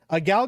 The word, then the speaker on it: Gal: Why did you pronounce her name Gail? did LOL. say it. It's Gal. Come on, Jay.